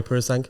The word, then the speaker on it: Purosangue: Is that how you pronounce it? Yeah, Ferrari Purosangue.